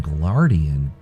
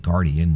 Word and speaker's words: Guardian: Greaves of the Iron Glardian, or if you want to say it right, Guardian, not Glardian. There's no such thing as a Glardian.